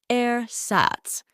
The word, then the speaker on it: ersatz: aats it's an adjective pronounced aats kind of like air but less refined just like the words